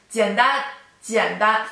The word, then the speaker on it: 简单: So, 汉语比英语更难汉语比英语更难 Okay, so if you want to say easy, it is 简单简单 third tone, first tone, 简单简单简单简单简单简单 third tone, first tone, 简单简单简单 which means easy.